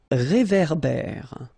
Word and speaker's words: réverbère: Un réverbère. Final not pronounced. Un ré. So here you've got this accent aigu, et. And then here you've got this accent grave, e. Okay, e. So it goes like réverbère.